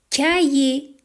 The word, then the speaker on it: cahier: Cahier, yé, yé. Le H ne se prononce pas.